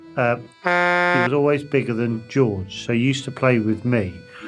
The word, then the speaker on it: Jorge: Jorge, pronounced George.